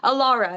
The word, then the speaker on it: Alara: As you know, my name is and I'm so excited to be here today with Allora. Am I pronouncing that correctly because I didn't ask you before we started.